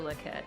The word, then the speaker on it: Lockette: what it's outrageous legit this is not French it's locket Carter lock it there